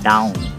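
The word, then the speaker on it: daon: Sa Bicol niyan, ang tawag yan ay down. Diba? Down. So down ang tawag namin dyan, down. Dahon or down. Mostly ang pronunciation namin ay down.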